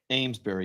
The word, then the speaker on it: Amesbury: Amesbury, yes. Okay, Amesbury, Massachusetts, 50 and cloudy with a sea breeze.